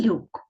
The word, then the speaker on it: люк: слово лук і люк Варто звернути увагу на різницю у вимові перших звуків у цих словах лук звук лох юк звук л у слові лук перший звук твердий л - ло ло А у слові Люк перший звук м'який і тепер Зверніть будь ласка